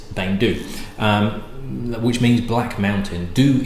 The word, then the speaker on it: Beinn Dubh: you spell it but you don't actually go be in depth it's bang dude which means Black Mountain